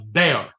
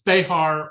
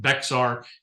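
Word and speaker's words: Béxar: of Texas to uh Bay which is how the Spanish pronounced it bear. Uh you know various people today refer to it as Beahar or Beexar.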